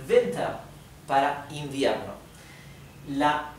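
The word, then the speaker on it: Winter: que terminan con er la r final también es casi imperceptible y la e tiende a sonar un poco más parecido a una a por ejemplo soma soma venta venta bien y esto es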